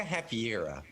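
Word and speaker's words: Hafyera: Invega Hafvira? Havira? Yeah, and Vega Hafiera.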